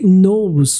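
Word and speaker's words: Knowles: o nome da beyonc Beyonce Knows k n o Ah e w l não LW e s nos que pronuncia-se soa da mesma forma que nos de saber ela sabe então She knows Shaw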